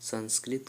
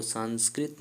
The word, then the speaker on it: संस्कृत: बता डन दोस्तों की जो संस्कृत का उच्चारण होता है वह संस्कृति नहीं होता है दोस्तों उसका शुद्ध उच्चारण संस्कृत होता है दोस्तों शाम स्क्रीन जो